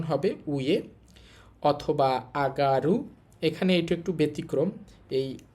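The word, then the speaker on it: 上がる: একটা হচ্ছে উয়ে আরেকটা আগারু আরেকটা হচ্ছে উয়া। আর অনিয়মী চীনা উচ্চারণ হবে জো।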